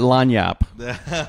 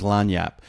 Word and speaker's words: lagniappe: We call that lagniappe. Oh, yeah? Yeah. You know what? Have you heard that term before? No. Oh, everybody in Louisiana knows lagniappe.